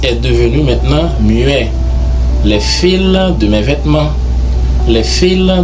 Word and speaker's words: fils: parle d'un petit garçon, ça se prononce automatiquement fils. Le L est devenu muet. Ça se prononce fils.